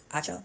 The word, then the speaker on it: Acho: Joy had a relationship with her co-host Emanuel acho that's how you say his name and that